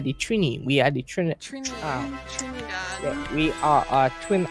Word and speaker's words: Trinidad: It's Trinidad, it's not Trinidad. People say Trinidad? It's Trinidad. Yeah, Trinidad. That's how they say it.